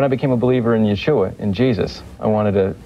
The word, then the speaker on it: Yeshua: It says, "The Messiah has come and his name is," how do you pronounce it? Yeshua. Yesua.